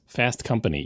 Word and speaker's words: Fast Company: Fast Company Top Gear it's no it's Fast Company equal equal emphasis on both syllables Top Gear the way